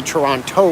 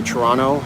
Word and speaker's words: Toronto: the americans will say toronto when they pronounce the t real hard but most canadians will just say toronto like there's an n at the end that's what it is